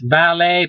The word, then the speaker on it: valet: okay i put this valet parking valet v-a-l-e-t valet t unpronounced uh ballet parking well